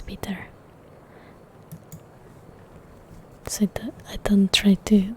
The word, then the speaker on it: Piotr: Oh yeah, he told me the name is Peter, so I don't try to like mispronounce it very badly.